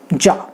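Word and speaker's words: già: Then already, यानी मैं already यहाँ आ चुका हूँ, तो ऑलरेडी अगर आपको कहना है तो आप कहोगे जा, अरे मैं तो अभी आया, फिर भी जा, दैट इज ऑलरेडी, जा।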